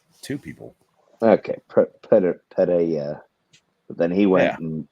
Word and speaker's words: Pereira: Just Eddie pronounce it Pereira. Playa, yeah. How do you pronounce it? Exactly like you said it. Yeah. I just want to hear Trey say it. Wow. He's a great Trey. Alex Pereira.